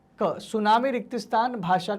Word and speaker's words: सुनामी: शब्द है सुनामी है तो सुनामी शब्द है देखिए एक भाषा देश में जो एक देश की परिभाषा अक्सर उसके नाम में जो टी है वो आगे का जो शब्द होता है वो साइलेंट हो जाता है वैसे तो बहुत